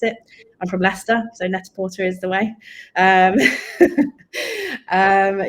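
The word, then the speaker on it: Net-a-Porter: called net or netor however you want to pronounce it I'm from leester so net Porter is the way um um yeah so I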